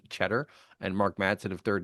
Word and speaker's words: Tschetter: Back here on DM Radio, a fascinating conversation with Cheddar of that's Ts Ctrer, pronounced Cheddar and Mark Madson of Third Nature.